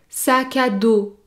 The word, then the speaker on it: sac à dos: éclair notez bien que pour prononcer le mot sac à dos vous devez effectuer l'enchaînement entre le mot sac et le mot à saka saka saka saka d'eau et la lettre s à la fin du mot sac à dos n'est pas prononcé daud daud sac à